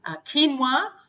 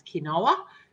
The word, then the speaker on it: quinoa: and we'll talk about oats in a second quinoa um i don't know about you but i used to pronounce it when i first heard it as quinoa it's not cake no it's quinoa rice and